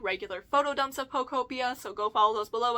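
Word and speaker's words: Pokopia: I've seen this pronounced a couple different ways. By the way, I say Pocopia, I see people say Pocupea. I don't really care. I want to say Pocopia. That's what sounds right to me, so leave your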